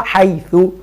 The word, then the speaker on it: حيث: بس هو عليها مبني، طبعا مبني على ايه؟ على الضم، حتى نطقها حيث.